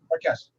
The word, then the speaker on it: Marques: It's Marquis, right? Marques. Okay, all right. It's like I think the hotel brand is the same way, right? It's spelled the same way? Marques, yeah, M-A-R-Q-U-E-S, yeah.